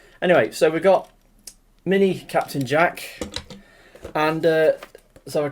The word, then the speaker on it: Captain Jack: character's name wrong there they say it's called captain zach not captain jack well i'm sorry to say but um see captain jack look on the front